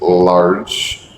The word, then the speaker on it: large: Actually, you said lot house. Uh, how lot. That's hard for me to say that correctly. Um, the correct pronunciation is large house. That's a common mistake for Vietnamese is the ending sounds.